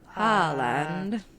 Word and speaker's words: Haaland: I want to pronounce it Haaland. I think that a lot of people have been pronouncing it like Holland, like the country. Yeah. I don't think that's right because there's a double A in there.